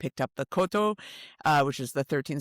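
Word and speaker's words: koto: how was learning the Kyoto? Am I I hope I'm pronouncing that right. It's there is a city in Japan called Kyoto, but the instrument has no Y. It's a Cotto.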